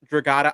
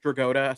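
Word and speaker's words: Dragotta: This is one where I'm like, this is one that you just said Nick Draata. I've been saying Nick Draota, so I guess I've been saying it wrong this whole damn time.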